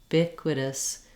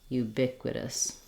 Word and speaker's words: ubiquitous: going to be short and reduced because that syllable is unstressed ubiquitous ubiquitous finally our last syllable has a flap t